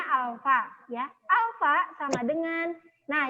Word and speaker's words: alfa: Dibacanya alfa, ya.